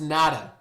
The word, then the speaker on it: NATA: Stolberg is a member of the National Trainers Association, also known as NATA, pronounced NADA.